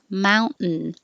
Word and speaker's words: mountain: So if you think of it as mountain, mountain, no T, mountain.